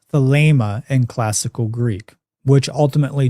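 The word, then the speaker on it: Thelema: But in classical Greek, that's pronounced as an a sound.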